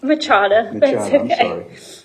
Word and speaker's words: Machado: i pronounced your name no it's machado at that point we